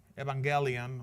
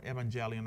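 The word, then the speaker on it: εὐαγγέλιον: it's from comes from a Greek term evangelian or evangelian as you want to pronounce it and it comes from two words EV which means good and angelon which means news or announcement.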